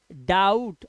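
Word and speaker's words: doubt: जैसे डाउट, अब इसे डो यू बटा नहीं पढ़ना है, यहां पर डाउट, बी साइलेंट है, ध्यान रखना, डाउट।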